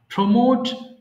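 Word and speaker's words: pour: হবে প্রমোট পদোন্নতি দেওয়া প্রমোট পদোন্নতি দেওয়া সবাই বলবো প্রমোট পদোন্নতি দেওয়া প্রমোট প্রমোট প্রমোট পোর ঢালা আমরা যে পোর মানে গরীব বলি সেম উচ্চারণ হবে হ্যাঁ পোর পোর মিনস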